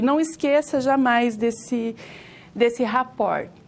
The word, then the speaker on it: rapport: É um termo originado da língua francesa, se pronuncia assim, rapport.